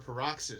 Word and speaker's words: Paroxys: Dem Mo yes 2024 perox is that how you pronounce it yeah like paroxismo Australia this is some